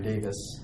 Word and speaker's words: Davies: Dominican priest from England, his name is Brian Davis, even though it's spelled Davies, but he's British.